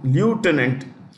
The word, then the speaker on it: lieutenant: You see the way I pronounce that word, this one, Lieutenant. You can say Lieutenant also. Lieutenant is American pronunciation. Lieutenant, Lieutenant, Lieutenant is the British pronunciation.